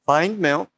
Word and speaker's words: findmnt: I pronounce it find mount.